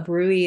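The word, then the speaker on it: bruit: here would be osportation of a Bruley which is spelled b-r-u-i-t a rui is actually a whooshing sound that happens up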